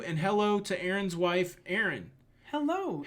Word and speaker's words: Erin: How do you say the double A name? Aaron. Aaron. Aaron. Nobody sounds like that. It's Aaron. It's Aaron. Aaron and Aaron. Aaron and Aaron. It's like pin and pen.